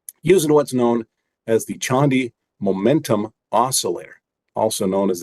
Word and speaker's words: Chande: It's the Chandi Momentum Oscillator, spelled Chande. It's a gentleman from India named Tushar Chandi, but apparently some people think he's French and they pronounce it Chande.